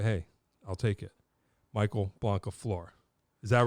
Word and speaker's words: Blancaflor: Michael Blancaflor.